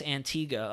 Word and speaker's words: Antigua: maybe that is how you say it yes Antiga okay good Antiga hi everyone from Bay Mahal